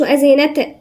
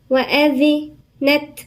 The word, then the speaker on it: وأذنت: ما نقولش وأذنت نقلقلها، لا، نديها الصفة بتاعها، والصفة هي الهمس. وأذنت، والذال هنا من الحروف اللثوية.